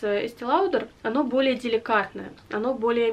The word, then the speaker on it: Estée Lauder: Но это Bronze Goddess от марки Estée Lauder. Ну, я знаю, что правильно говорить Estée Lauder, но у меня деформация на фоне таких более стандартных произношений.